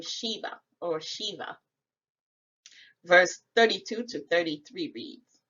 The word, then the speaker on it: Sheba: or v a h it is pronounced shiva the root word is